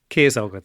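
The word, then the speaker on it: Ciosóg: his name, so let's use, I think I mispronounced it, Ciasóg? Ciasóg.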